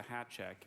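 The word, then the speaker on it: háček: priests philosopher and reformer yan huis introduced the Hat check into check orthography language of origin peace hat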